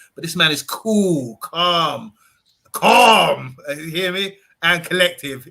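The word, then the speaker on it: Colm: having me on uh it's pronounced calm calm um ah it's a column as well it's the irish version of my name uh i'm really lucky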